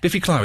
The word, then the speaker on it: Biffy Clyro: Biffy Clyro, is that how you say it? Yeah. Biffy Clyro, yeah.